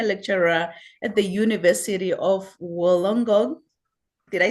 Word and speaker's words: Wollongong: Ritu Verma is a senior lecturer at the University of Wollongong.